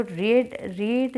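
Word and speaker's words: read: जो रीड जो अपनी वर्ब होती है ना, इसकी तीनों फॉर्म में ही सेम स्पेलिंग की होती है, सिर्फ प्रोनाउंसिएशन में डिफरेंट होती है। ये रीड, रेड, रेड।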